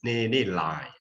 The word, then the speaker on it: Ni Hlaing: So next time, if you are going to invite her, the correct pronunciation of her name is Ni Hlaing.